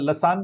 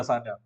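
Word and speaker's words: Lassaigne: do you know what Lan lasan it's not lasna how do you pronounce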